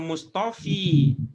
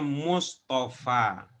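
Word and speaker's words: مصطفى: Ini bukan dibaca Mustofi. Tapi bacanya Mustafa. Bacanya Mustafa. Jadi apa membedakannya ini dengan yang ini? Bedakannya adalah ini tidak ada titiknya, maka bacanya fa.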